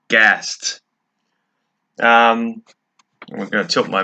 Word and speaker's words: ghast: this is gary he is a ghast pronounced g-a-s-t gassed um i'm gonna tilt